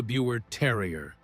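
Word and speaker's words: Biewer Terrier: Number nine, Buer Terrier. Now, let's jump to the Buer Terrier. And yes, you pronounce it like beaver.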